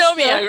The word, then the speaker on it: Dysnomia: Her new book, which is his second book in a trilogy, Dysnomia, am I pronouncing that right? Dysnomia, pretty close. Dysnomia, right, there we go.